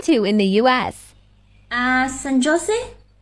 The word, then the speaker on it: San Jose: in the US ah San Jose pronounced as J is pronounced as H in us oh okay